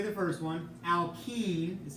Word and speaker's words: alkene: Alkene is how you say the next one, and alkyne is how you say the third one.